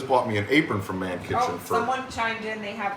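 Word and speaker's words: Mannkitchen: stuff over things but it is spelled m-a-n-n -k-i-t-c-h-e-n so like man kitchen but with two ends m-a-n-n kitchen um I don't I haven't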